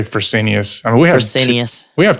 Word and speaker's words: Fresenius: How do you say that, David? I say Fresenius.